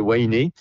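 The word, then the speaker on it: Huahine: sur une île à winé ça s'écrit uï mais c'est winé pendant 2 jours et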